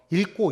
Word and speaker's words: 읽고: 읽고, 읽기 같은 경우에. 그러면은, 읽다가 아니라 잘못 말했어요. 읽다인데 기억으로 시작하는 어미가 올 때는 어떻게 발음해요? 그럴 때는 앞에 걸로 발음해요.